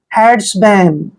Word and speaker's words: herdsman: MAN का उच्चारण मैन करते हैं, क्या करते हैं, मैन, हेड्समैन, हेड्समैन।